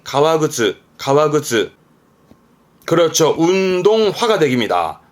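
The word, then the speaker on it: 革靴: 발음은 가와그츠.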